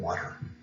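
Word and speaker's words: Walter: sir francis drake and sir water rolling that's how he pronounced his name water most africans in peter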